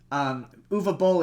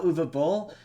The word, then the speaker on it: Uwe Boll: The only valuable thing in Postal is Uwe Boll is in the movie, and there's a scene where they say his name, so I now know how to pronounce his name.